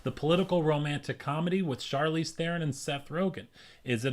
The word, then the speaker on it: Charlize Theron: long shot is the political romantic comedy starring Charlize Theron that is pronounced right did my research today thank you